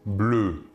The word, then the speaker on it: bleus: Deux papillons bleus. Papillon est bien ici masculin pluriel. Nous ajouterons donc un S, marque du pluriel, à l'adjectif de couleur bleu. Le S final ne se prononce pas.